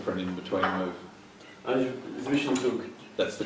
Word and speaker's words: Zwischenzug: Zwischenzug. That's the correct pronunciation, isn't it?